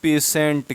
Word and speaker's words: patient: किसी शब्द में टी के बाद क्या क्या आ जाए? IA। ठीक है ना? कौन से? IA आ जाए, ठीक है ना? IA आ जाए, IE आ जाए और IO, तो टी का उच्चारण सा हो जाएगा। क्या हो जाएगा? सा हो जाएगा। जैसे यहाँ लिख दूँ मैं, एक सेकेंड, लिख दूँ PATIENT। तो इसे हम बोलते हैं पेशेंट।